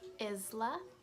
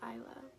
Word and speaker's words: Isla: name and they're like Isla her name's aiyla do you not know how to say Island do you not know how to say Isle because her name is